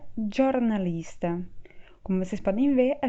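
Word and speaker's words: giornalista: jornalista que em italiano se escreve e se pronuncia jornalista como vocês podem ver a gente troca o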